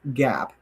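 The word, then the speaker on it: GAAP: this is what follows what's called gap g aap doesn't like mark that doesn't spell gap well that's how they say it don't beat me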